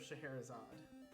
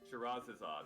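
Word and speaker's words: Scheherazade: the game next game you're doing since i butchered it the magic of shahir is odd shiraz is odd okay gotcha yes yes shot azad it's a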